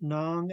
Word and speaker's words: nong: We have to pronounce nong and together as nong, and then go into the verb because game is a noun and a verb.